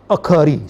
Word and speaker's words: akhari: Okay, I want to give you the definition of akhari. So the pronunciation of this word is akhari naam, akhari salah.